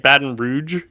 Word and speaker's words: Baton Rouge: really exciting that's how you say that right Baton Rouge baton R rou how do you say it